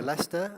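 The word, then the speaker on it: Leicester: thank you very much this is a University Lester I just want to just want to introduce you to it often mispronounced you may know about Lester because of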